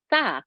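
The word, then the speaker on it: ث: So we're learning that this is a letter tha, the 3-dotted one. Tha, as in thin.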